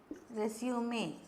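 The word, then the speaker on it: résumé: Keep in front of you or keep before you company notes and a copy of resume. This is a French word with an accent, so we pronounce it as resume.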